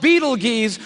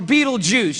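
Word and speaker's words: Betelgeuse: heard about this star it's called Beetle Gees or be be juice you can pick your pronunciation I'm obviously going with Beetle Juice and Beetle Juice is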